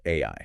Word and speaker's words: 愛: In the Japanese language, the kanji character for love is pronounced AI.